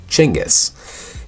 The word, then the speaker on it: Chinggis: Genghis is the English translation of the Mongolian Chinggis. It's phonetically pronounced Chinggis.